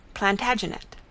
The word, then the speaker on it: Plantagenet: covered with his visor the latin name for broom is planta genista and gradually it came to be pronounced plantagenet although jeffrey was french